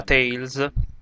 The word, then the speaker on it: Tales: Benvenuti alla 38esima parte di Tales of Banalia, perché sì, si pronuncia Tales.